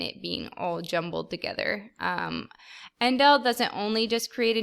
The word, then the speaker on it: endl: This is an endl, pronounced endl.